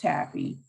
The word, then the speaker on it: TABPHE: so that's a-b-p-h-e and that's pronounced taffy uh i am the